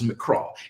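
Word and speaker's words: מקרא: A mikra, rather pronounced, the Hebrew word is mikra.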